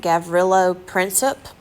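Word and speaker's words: Gavrilo Princip: who actually killed him his name I believe you pronounce it gavrillo princip close enough but this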